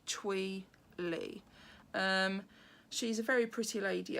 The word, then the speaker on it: Thuy: It's actually spelt Thuy and then L-E, and I found on Instagram, on her account, she has suggested that you pronounce it Thuy.